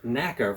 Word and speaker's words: NACA: committee for Aeronautics sometimes called the NAA or pronounced NAA for short if that name sounds familiar that's